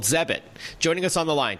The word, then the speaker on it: Zebit: So Zebit is spelled Zebit. I guess it rhymes with credit. Please tell us the premise behind Zebit.